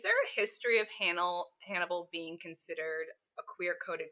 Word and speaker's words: Hannibal: and then we have Hannibal Lecter who is by profession a psychiatrist uh but spoiler alert uh he's also a serial killer and a cannibal and you'd never know his name rhymes with cannibal but no one would